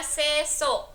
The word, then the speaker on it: Sesuk: Aku pikir ini mungkin bacanya sesuk atau bagaimana. Ternyata harusnya aku membacanya sesuk karena di sini ada